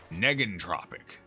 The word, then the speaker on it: negentropic: Hard G. Negentropic. Like negative.